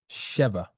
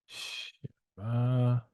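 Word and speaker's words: שבע: And so the number 7 in Hebrew is pronounced Sheva. Sheva.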